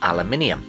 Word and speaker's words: aluminium: To do this, he used aluminum, or as Americans say aluminum.